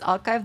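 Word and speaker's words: arXiv: It's archive. The X is a Greek chi. Archive. Archive. It's now pronounced archive.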